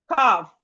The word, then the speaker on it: calf: We have calf. Calf. The L here is silent.